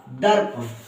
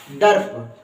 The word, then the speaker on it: दर्प: आवाज आएगी यानी कि द द के बाद र और र के बाद फिर इस प का उच्चारण होगा तो क्या बनेगा दर्प क्या बनेगा दर्प ड के बा जब